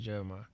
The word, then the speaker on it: Jeremih: you know Jeremiah Jeremiah a lot of people still mispronounce my name but it's just Jeremiah and they spell your